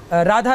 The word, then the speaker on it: राधा: आधावन तो हो जाएगा, पर उच्चारण में तो राधा लिखा है, उच्चारण तो राधा ही होगा।